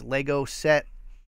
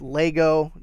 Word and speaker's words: Lego: Next up, we have this Lego set.